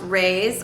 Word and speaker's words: Reis: Okay, and then the third whip I want to show y'all is another sweater, and this is the, I think it's pronounced Reis, R-E-I-S, by Stephen West.